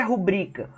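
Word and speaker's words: rubrica: a sua rubrika E por quê que é rubrika porque não tem acento tá não tem acento nessa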